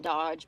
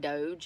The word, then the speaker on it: DOGE: Um, Elon and Vavik run DOG DO G and I think it's pronounced not Dodge, but Doge or something.